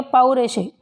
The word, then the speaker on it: पौरुषेय: ये जो मात्रा लगी है ओ, इसको पो ना पढ़ के क्या पढ़ेंगे, पौ पढ़ेंगे। क्या पढ़ेंगे, पौरुषेय, पौरुषेय, ठीक।